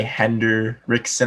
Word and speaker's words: Hendrickson: my first pick is trey hender rickson i believe is the way to pronounce trey hendrickson so you give your